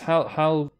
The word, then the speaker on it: Halcyon: Yeah, it's Halcyon.